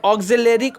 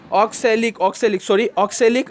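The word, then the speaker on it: oxalic: टमाटर के अंदर ऑक्जेलेरिक अम्ल होता है, ऑक्सैलिक अम्ल होता है, ऑक्सैलिक प्रोनाउंसिएशन थोड़ी रॉन्ग हो गया, सॉरी बच्चे, ऑक्सैलिक एसिड रहता है।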